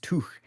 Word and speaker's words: Tough: where they said that your surname would be pronounced Tuch in northeast Scotland.